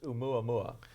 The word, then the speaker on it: Oumuamua: It's just Oumuamua. It's a Hawaiian word. And since I love Hawaii, Hawaiian just comes naturally. It comes naturally to him, that's right. So Oumuamua, it was an asteroid